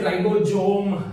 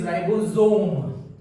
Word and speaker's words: ribosome: So please don't say ribosome, it is ribosome.